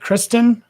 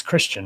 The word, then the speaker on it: Christian: right here we go am i saying your name correctly is it is it kristin or christian christian christian it's christian right i am saying it